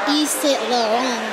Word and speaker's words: Saint Laurent: Saint Laurent. Oh, that's I feel like in with Parisian language, Gucci. You don't pronounce the T.